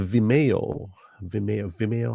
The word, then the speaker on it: Vimeo: So okay, it's a Vimeo is how you say it. Vimeo, yeah, Vimeo.